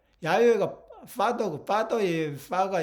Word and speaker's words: 야훼: 이 여호와가 아니에요. 여호와가. 예? 여호와로 하려면은 제호, 배, VH 이렇게 해야 돼요. 이렇게. 예? 이건 분명히 오시리스고 견우고, 예? 이 야훼라고 야훼. 야훼가 파더고 파더의 파가 이 뱀이란 뜻이에요.